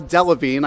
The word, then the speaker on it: Delevingne: Cara Delevingne, I believe. No, yeah, you got it right.